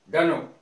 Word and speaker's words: dunno: तो डनो के रूप में आ जाएगा DUNNO, डनो।